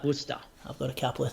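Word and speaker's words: Worcester: on as well but I'm pretty sure that's Worster I've got a couple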